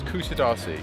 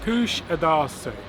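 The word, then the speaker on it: Kuşadası: of the stand kusadasi Kush adasi apparently we kept I think we've been pronouncing it wrong but that is the correct well that is the pronunciation that the guide was using and she's Turkish so I assume she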